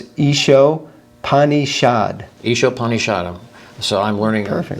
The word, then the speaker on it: Ishopanishad: And the second S also, because it has a dot under it, that's also like a sh. Okay. So it's Isho Panishad.